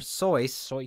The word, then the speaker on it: Seuss: skisel AKA Dr Seuss which originally is supposed to be pronounced Dr soy but I'm not going